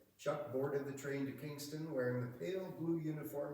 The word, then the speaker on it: Kingston: "I'm going to enlist in King's Town," he told the man, told the soldiers. One of them smirked and the other said, "It's not King's Town. It's one word and it's pronounced Kingston.